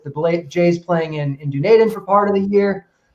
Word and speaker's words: Dunedin: make sure everybody's aware it's pronounced dunedin um you can see